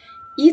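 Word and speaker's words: et: وواحد امال بياخد ايه اي تي الاي تي دي بتتنطق اي طب دي معناها ايه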